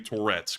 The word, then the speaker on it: Toretsk: area of Donetsk, and specifically Toretsk, which rhymes with Donetsk, where we saw some Ukrainian artillery firing in support of the front line.